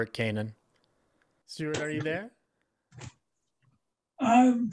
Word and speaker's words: Canin: right is pronouncing it it is Stuart Kanan correct though often they pronounce it as Canon and I was just